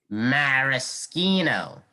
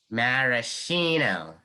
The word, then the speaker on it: maraschino: time the sixth word maraschino maraschino it's a noun why do you say two different pronunciations because this word has two pronunciations some words of one